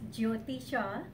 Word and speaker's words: Jyoti: My name is Jyoti Shah, so a lot of people think J is silent, but it's not.